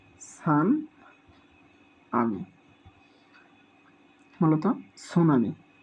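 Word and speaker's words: tsunami: 3 নম্বরে আমরা খেয়াল রাখব টি সান আমি, মূলত সুনামি। অনেকে এই শব্দের ক্ষেত্রে এখানে টি সাইলেন্ট থাকে, কিন্তু বিভিন্ন পরীক্ষার মধ্যে দেখা গেছে স্পেলিংটি এসেছে।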